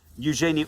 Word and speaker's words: Eugenie: the last one, and I think that's Princess Eugenie. Princess Eugenie, or Princess Eugenie, as I've heard it pronounced.